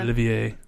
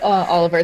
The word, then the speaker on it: Olivier: Olivier. I'm sorry. It's okay. You can say Oliver because that is how they say it in English.